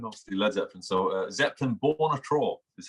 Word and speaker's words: Zeppelinbarnatra: instagram that's the problem um it's except it's pronounced set so zeppelin obviously led zeppelin so uh zeppelin born a troll is how you say it so it's it's